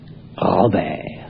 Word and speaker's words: Robert: Et c'est un prénom qui n'est pas facile à prononcer. Robert.